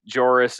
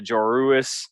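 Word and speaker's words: Joruus: There was a moment in that introductory where they mentioned the syllable change, the Joris and the Joruis. Yeah, Thrawn says, notice the telltale extra vowel in his name, the mispronunciation from.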